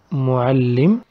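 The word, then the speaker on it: مُعَلِّم: sound on the letter so in arabic instead of writing the word mualim in mo'al then lim with tula we write it together mual lim only we stress on the south when we pronounce it and we put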